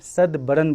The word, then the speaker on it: Satbaran: उन्होंने बताया था कि यह इसको कश्मीरी में सदबरन बोलते हैं आई थिंक सही प्रोनाउंस कर रहे हैं क्योंकि सेवन दरवाजा है।